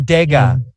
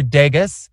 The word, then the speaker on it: Degas: Edgar Degas. That's how you say it if you're French. But if you're English, you say Edgar Degas. Edgar Degas? Like Las Vegas.